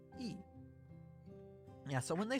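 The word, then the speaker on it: い: This is I, or E. It is the equivalent of the vowel I in English. You pronounce this as E.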